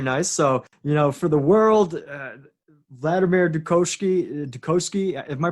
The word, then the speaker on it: Vladimir Dukoski: So, for the world, Vladimir Dukoski, am I pronouncing that end right? Vladimir Dukoski. Vladimir Dukoski.